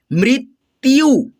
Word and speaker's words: मृत्यु: वृष, वृष, गृह, गृह, मृत्यु यानी कि आधा त य के साथ में संयुक्त है यानी कि जुड़ा हुआ है, तो त को य के साथ में मिला करके हम लोग उच्चारण करेंगे मृत्यु, वृट, वृट, वृद्ध, वृद्ध।